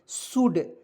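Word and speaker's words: should: ठीक है उसके बाद एस एच ओ यू एल डी शुड शुड नहीं पढ़ेंगे इसमें एल को साइलेंट करेंगे दोस्तों इसे पढ़ेंगे शुड शुड मींस क्या होता है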